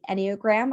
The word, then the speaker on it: Enneagram: So I just mentioned astrology, but I've studied Enneagram, I've studied human design.